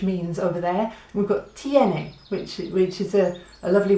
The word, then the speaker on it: tiene: told me we'll just think of the letters T n a ah tiene and it means it has so we've got ie which means over there we've got tiene which it reaches a